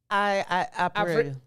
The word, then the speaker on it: Abril: Abril. Abril. A-V. Abril. But it's spelled Abril.